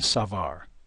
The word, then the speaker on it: Savart: doesn't notice too that the proper pronunciation is Bo and Savar the bo of our